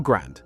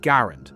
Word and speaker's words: Garand: Why did Germans hate the American M1 Garand or Grand if you want to start a fight in the comments? The man who designed the rifle pronounced it Garand, so that's what we're going with.